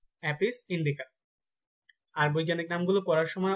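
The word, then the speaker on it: Apis indica: তারপর মৌমাছির বৈজ্ঞানিক নাম হচ্ছে অ্যাপিস ইন্ডিকা, অ্যাপিস ইন্ডিকা।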